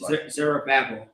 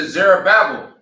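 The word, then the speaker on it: Zerubbabel: Verse two, then they came to, how do you pronounce it? Zerabel. All right. Verse two. Then they came to Zerabel and to the chief of the fathers and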